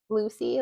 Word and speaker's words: Lucee: And I like how her name is spelled. It's spelled phonetically. Lucy, like Lucee.